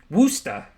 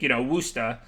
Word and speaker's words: Worcester: Like, you see how they just typed it out? WUSS-THA. So, obviously it's not going to be perfect, but like when I see that, I think, Worcester, the way it would be said.